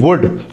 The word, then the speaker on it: would: आज का हमारा टॉपिक है वुड के ऊपर, WOULD, वुड। जी, वुड, गा, गी, गे, एल इसमें साइलेंट है।